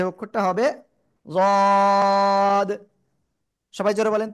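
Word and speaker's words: ضاد: জিহ্বার গোড়ার কিনারা উপরে মাড়ির দাঁতের গোড়ার সাথে লাগিয়ে, জিহ্বার গোড়ার কিনারা উপরে মাড়ির দাঁতের গোড়ার সাথে লাগিয়ে তিন আলিফ টানিয়া যদ উচ্চারণ হবে। ঠিক আছে? যদ।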